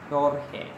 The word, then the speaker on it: Jorge: G-E-O-R-G-E. In Spanish, it is not pronounced as George, but it is pronounced as Jorge.